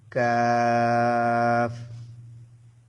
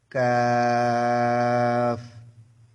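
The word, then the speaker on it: ق: কাফ কাফ একটু ইয়ে করে বলতে হবে। গালটাকে একটু খুলে খুব চিকন স্বরে উচ্চারণ করতে হবে।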